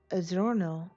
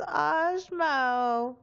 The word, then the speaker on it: Osmo: because the scar that Adorno launched, or is it Osmo? It's Osmo! Okay, I've been saying it wrong.